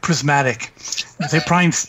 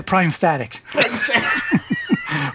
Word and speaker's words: Prismatic: He would play Illusionist, and he would always mispronounce Prismatic. He would say Prime Static.